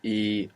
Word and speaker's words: he: versions let's start with e e all by itself means I have it's spell h e and of course we have the silent h there from a in e